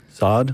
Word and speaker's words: Saad: Did I pronounce your name right? Saad? You pronounced my name right.